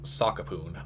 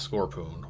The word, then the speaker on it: Sakapoon: Also, it's Sakapoon, not Scorpoon, but like it took me 20 years to realize that I had read the name wrong on the title screen, so.